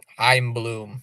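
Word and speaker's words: Chaim Bloom: The C is silent. I'm Bloom. C H A I M.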